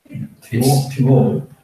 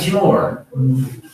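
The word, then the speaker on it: Temotu: T40 GC in, how do you pronounce it? Timotu? Timotu. It's not Timor.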